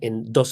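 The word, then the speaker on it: Dweck: autora Carol Duck insisto se escribe d w e k Duck muy interesante si la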